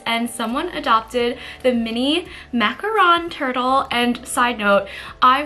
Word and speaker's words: macaron: someone adopted the mini macaron turtle and side note I was told that macaroon is actually like that coconut pastry insert a picture here and a macaron is the French pastry which I just made